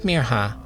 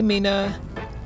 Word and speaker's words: Mirha: They stretched out the I until it sounded like an E, and their R sounded wrong. Some people even forgot the H. "Hey Mina." "Miriam." "Merha."